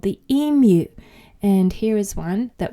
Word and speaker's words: emu: my pronunciation guide there Americans often say EMU but we should call it an emu so now you